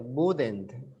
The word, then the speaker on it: wouldn't: Remember, don't pronounce the L. Wouldn't. Wouldn't? Wouldn't.